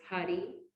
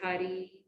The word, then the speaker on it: Hari: He used the words Hari, which is spelled H-A-R-I, and Om.